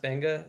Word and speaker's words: Beqa: Uh I know it's spelled Beqa, but it's actually pronounced Benga, same way that Nadi is actually pronounced Nandi.